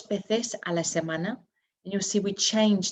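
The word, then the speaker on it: veces: once a week and remember our v's are pronounced as b so it's um number six dos bethes and you'll see we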